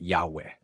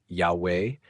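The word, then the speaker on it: Yahweh: Essas transliterações usam ia a a ou uia a aua que indicaria uma pronúncia como ya forma que com o enfraquecimento do a em e poderia evoluído para Yahwe. Assim existem testemunhos que sugerem a pronúncia Yahweé, mas a maioria das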